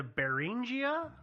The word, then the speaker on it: Beringia: and it is uh the beringia I believe is how you say it beringia Theory because it's from the bearing straight they put an IIA on the end so I I assume it's beringia yeah beringia was like